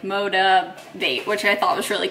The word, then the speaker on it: Motiv8: the brand motivate and it's spelled with a number eight so it's like motivate which I thought was